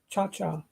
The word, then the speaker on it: Ciarcia: That's how you say their name, Cha-Cha. Looks like Ciarcia or something like that, but it's pronounced Cha-Cha.